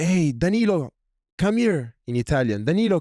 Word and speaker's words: Danilo: And there I hear somebody say, "Hey, Danilo, come here."